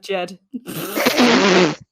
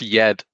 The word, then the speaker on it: Jed: Oh, that's cousin Jed. Great. I fucking know. Seraphina, nice. No, it's pronounced Yed.